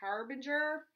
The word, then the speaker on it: Harbinger: And again, they're by Harbinger. That's how you pronounce it.